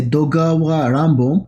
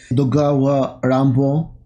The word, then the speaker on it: Edogawa Ranpo: different and very disturbing dogawa rambo is a pseudonym for japanese author it's the japanese way of pronouncing edgar allen poe so it's probably and